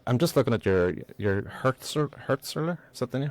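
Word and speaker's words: Hürzeler: Like, I'm just looking at your Hertzler. Is that how you pronounce this?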